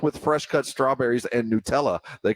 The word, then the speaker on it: Nutella: the ladder but not if you're calling it Nella it's it's Nutella like uh you know you've got to get the phonetic pronunciation right who calls it it's it's not